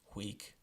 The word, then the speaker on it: huic: But for 5 words in Latin, we pronounce it together. These are huius, quius, huic, qui, and hui. So we do that more kind of like our W sound in English.